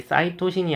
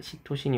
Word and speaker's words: 시토신: 그래서 여기도 이제 사이토신이 아니라 일본에서는 시토신이라고 불러 주시면 되겠습니다. 그래서 요렇게 아데닌이 오느냐 구한이 오느냐 시토신이 오느냐 티민이 오느냐에 따라서 요렇게네 종류의 염기가 붙어서 만들어지는네 종류의 뉴클레오티드가 각각 생기게 되겠습니다.